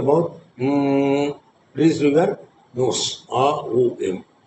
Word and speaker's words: Om: So A O M. So the மூன்று is made up of the 3 syllables. A, open your mouth. O, close your mouth. Release through your nose. A O M.